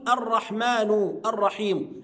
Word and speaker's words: الرحمن الرحيم: عز وجل الرحمن الرحيم، بعض الناس ينطقها خطأ يا أحبابنا، يقول الرحمن الرحيم. احنا اتفقنا على إن الرحمن الرحيم هما صفتان لله، واحنا قلنا الصفة بتتبع الموصوف، فهنقول الرحمن الرحيم، يبقى الرحمن النون مكسورة والرحيم مكسورة، بما إني أقف على الرحيم يبقى الميم الأخيرة بتاعت الرحيم هتسكن، الرحمن الرحيم، وهكذا.